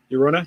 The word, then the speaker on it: Llorona: Yeah, La Llorona. That's how did you just say that? La Llorona? I can't pronounce. Llorona? Llorona. There you go. Imagine that's a Y.